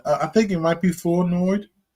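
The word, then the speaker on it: Flournoy: It's pronounced Flenoi. The R is silent.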